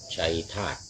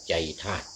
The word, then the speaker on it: ชัยธาตุ: ฆราวาส ญาติ โยม ก็ มี พระยา ชัยธาตุ อื หรือ ทาง ภาค เหนือ เรา ออก เสียง เป็น พระยา ใจธาตุ ได้ อธิบาย ไป แล้ว